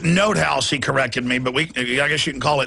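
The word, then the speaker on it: von NotHaus: completely bankrupt the banksters this this bernie von nut house case you know jpm is is in the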